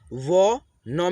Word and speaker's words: वनः: ठीक है, जैसे कि यहाँ पे देखिए व न में अह की मात्रा है ना, तो हम लोग अह की मात्रा को आधा ह के रूप में उच्चारण करते हैं, वनः।